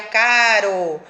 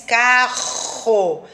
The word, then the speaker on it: carro: Então, se eu fosse falar com um R só, seria caro. Mas como tem dois R's, carro.